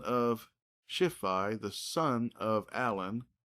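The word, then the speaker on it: Allon: It should be all on, but it's actually pronounced Alon.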